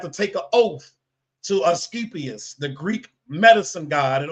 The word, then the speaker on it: Asclepius: I can't pronounce it. Here you go, right here. Okay, Asclepius.